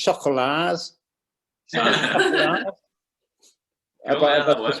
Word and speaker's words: Choco La's: It's our interview with the Chocolars. Have I pronounced that right? No. Go on, how do you say it? It's designed to be said with your best French accent. Oh, So the chocolat, as in, right, okay.